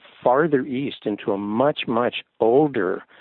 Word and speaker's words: Ea: English in the Roman alphabet would be spelled EA, in the oldest language in the shaman world, that was actually spelled EJE and still pronounced Ea.